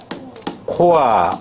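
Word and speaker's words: corps: 뭐다 시체 자 어 S 없다 그러면은 뭐다 발음 코아 어 코아 뭐다 군단 큰 물이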